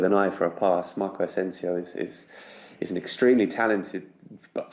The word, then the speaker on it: Asensio: Real Madrid, Asensio, but I'm assuming it's not pronounced that way. Yeah, Marco Asensio. Asensio? Yeah. Okay, Yeah. I heard it pronounced as Asenio when I was watching it on Sky Sports, which was odd.